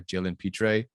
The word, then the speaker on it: Jalen Pitre: on i would have gotten maybe like a jalen pitre that's how you say his name from baylor